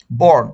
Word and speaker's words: born: Simple একটা sentence, I ওয়াজ বর্ন। বর্ন উচ্চারণটার ক্ষেত্রে কেউ ব্রন করবেন না, আমি আপনাদের অনেকজনকে বলতে শুনি ব্রন করেন।